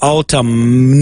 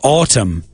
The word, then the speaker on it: autumn: It's not autumn. No. It's autumn. The N is completely silent.